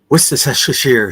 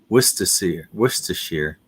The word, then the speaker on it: Worcestershire: So the R is silent basically in the first R. Worcestershire.